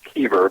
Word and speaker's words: Kieber: It's actually pronounced Kieber, but with the German spelling, everyone pronounces it, so no worries.